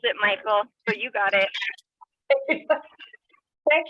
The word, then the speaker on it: Michael: You do pronounce it, Michael, so you got it.